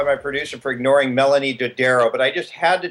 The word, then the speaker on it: Dodaro: So anyway, Melanie Dodaro, am I pronouncing your last name correctly?